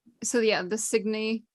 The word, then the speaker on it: Signe: think gaelic names and i never knew how to pronounce cygni because it was it's s-i-g-n-e so i always thought it was signe but cygni sounds cuter and then you can